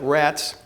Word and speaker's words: Rates: St Peter near the town of rattes or spelled like pronounced like rats and uh saw this